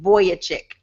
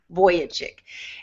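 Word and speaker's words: Vujicic: hear his story Nick voyage chick but his voyage chick is spelled like the sensible it throws me that the way it looks but it's vu j icse voyage chick voyage chick if you google him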